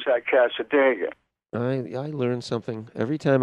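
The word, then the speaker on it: Cassadaga: Boy, so we pronounce that Casadega.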